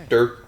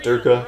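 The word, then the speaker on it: Derke: Durk a or derka I think it's derka right I think you pronounced the E like an a like a combination of both I don't think it's Dirk it's not Dirk and it's not Dirk a it's like derka that's what I feel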